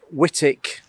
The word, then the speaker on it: Wightwick: but this I'm a whitic I think you pronounce it whitic Manor over in um